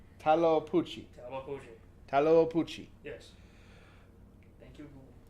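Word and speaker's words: Tlahuelpuchi: Taloapuchi. Taloapuchi.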